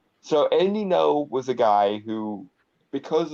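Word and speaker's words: Andy Ngo: back in July 2019 it it's it's pronounced no because it's Asian I don't know works either yeah but well you know the G there kind of confused me so Andy know was a guy who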